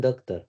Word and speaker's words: doctor: doctor, patient doctor, Doctor. patient doctor, Good. Semua yang belakangnya tulisannya TOR seperti ini, Kak, itu nanti bacanya ter.